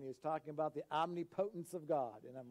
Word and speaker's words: omnipotence: this brings us to number three it's called omniputence not omnipotent as some of us might pronounce it it's pronounced omniputence okay it was was in a message one